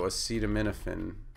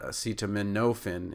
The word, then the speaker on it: acetaminophen: as in data, mi as in mint, na as in cannon, so it's not acetaminophen, it's nuffin, and then fen, like, is in hyphen.